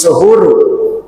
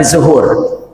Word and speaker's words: suhur: Kalau yang di situ kita sedangkan di situ makan itu namanya bukan sahur. Wa yasulus suhuru. Tuh bacanya bukan sahur tapi suhur. Ya suhur bidomisin dengan mendomahkan sin, bukan sa tapi su.